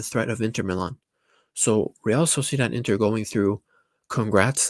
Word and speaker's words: Real Sociedad: And you guys, I got to say it like a Spanish guy, Real Sociedad. Oh, no, actually, no. Real Sociedad as if it was with a Z. It's like Santi Cazorla.